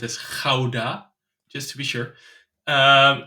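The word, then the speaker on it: Gouda: close to a city that everyone knows as guda we pronounced as Kaa just to be sure um in a small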